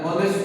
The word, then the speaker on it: honest: An honest mistake. The H is silent. It begins with an O sound.